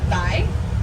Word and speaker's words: wai: Now the Hawaiian word for water is Vai, W-A-I. They pronounce often the W's as V's, not always, but often.